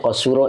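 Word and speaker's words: قصر: di sini waman qasuro nah ini dibacanya qasuro ya fi'il madinya itu itu jenisnya faula ya Jadi kalau dalam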